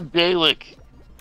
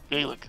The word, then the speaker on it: Dalek: Listen, it's a Dalek. Okay? It's like a day that you choose to lick. Dalek.